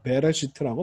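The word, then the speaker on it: בראשית: 가 아니라 비읍 소리가 베레시트라고 발음하시면 되겠습니다. 빼가 아니고요.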